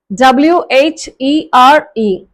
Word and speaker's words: where: First வேர்டோட spelling வந்து WHERE. Second வேர்டோட spelling வந்து WERE. First வேர்டை எப்படி ப்ரொனவுன்ஸ் பண்ணணும், அது எந்தெந்த வேர்ட்ஸோட ரைம் ஆகி போகும் அப்படின்னு சொன்னா கேர், பேர், ஷேர், சேர், பேர். So it's where.